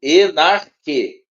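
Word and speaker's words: ἐν ἀρχῇ: ar en ar não você não vai ler dessa forma en ar você vai ler junto enarque enar enar enarque tá enarque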